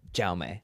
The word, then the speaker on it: Jaume: Jaume Martinez. Yeah. It feels like you're just bastardizing the name by saying Jaume. Right. But like he introduces himself as Jaume.